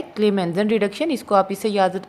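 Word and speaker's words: Clemmensen: Start C से हो रहा है लेकिन दोनों की आवाज़ किससे प्रोनाउंस हो रही है? K से।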